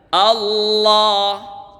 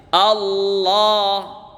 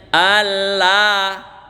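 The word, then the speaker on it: الله: Allah, tebal ya. Allah. Tidak boleh bacanya Allah. Itu bacaan salah.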